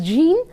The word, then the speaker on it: Jean: If any of you are pronouncing it as Pierre, it is pronounced as Pierre, and this sometimes pronounced as Jean, sometimes pronounced as Jean.